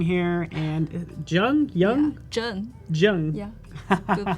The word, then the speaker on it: Zheng: Zheng. Yeah. Good pronounce.